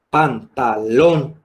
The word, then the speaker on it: pantalón: pocas pero existen entonces si la última es pantalón la última long y la anterior la anteúltima sería está evidentemente la palabra no